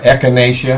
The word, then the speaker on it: echinacea: think it was uh and how do you pronounce the echinacea yeah echinacea and the burdock she said i could take